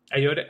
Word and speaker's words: Ayoade: Ayoade.